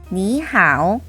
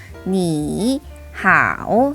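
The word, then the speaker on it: 你好: 그런데 여기서 성조를 다 지켜서 니, 하오 라고 인사를 하게 되면 발음하기 불편할 뿐만 아니라 시간이 많이 걸리죠. 그래서 조금 더 스무스하게 발음해 주기 위해서 앞에 있는 제3성을 제2성으로 바꿔서 니하오 라고 인사합니다.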